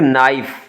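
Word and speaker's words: knife: फिर नाइफ, तो के तो साइलेंट है और आगे नाइफ हो गया।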